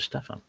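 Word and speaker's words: Stephen: one I think and we've been joined by stevenh Castle saying hello fellow modelers from Marysville Washington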